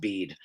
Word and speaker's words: Bede: Uh bead is his name. A lot of people think his name is Bedet actually because it it's sort of spelled the same way but it's it's pronounced bead.